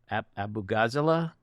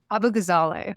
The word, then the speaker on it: Abughazaleh: I want to ask you about your name, Abughazaleh? Abughazaleh. Abughazaleh.